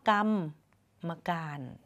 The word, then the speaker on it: กรรมการ: กรรมการ ใช่ เลย ค่ะ มี ตัว สะกด เพราะ ว่า มี ม ม้า มา อยู่ กับ คำ รอ หัน ด้วย นะ คะ อ่าน ว่า กรรม มักกานต์ มี ต่อ ก็ เพิ่ม เสียง ม ม้า เข้า ไป อีก นิด นึง ค่ะ แบบ ฝึก หัด แรก